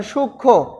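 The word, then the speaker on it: সূক্ষ্ম: উচ্চারিত হয় না যেমন সূক্ষ এখানে খির সাথে মূক্ষ এখানে কিন্তু কোথাও মনে উচ্চারণ যখন আমরা যেখানে করেছি এখানে ম এর উচ্চারণটা নেই তারপরে আবার লক্ষণ আমরা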